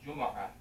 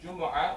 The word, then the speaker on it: Jumu'ah: that the day of Jumu'ah, or you can pronounce it Jumu'ah, Jumu'ah or Jumu'ah.